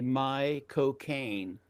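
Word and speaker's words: McConaughey: You know, he said the best way to pronounce his name is to say my cocaine but fast.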